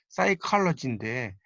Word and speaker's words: psychology: 예를 들어서 심리학을 의미하는 단어가 psychology인데 이때 P는 발음이 안 되죠.